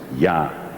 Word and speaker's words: ja: In Dutch, the English word yes and the Spanish word sí are pronounced as ja.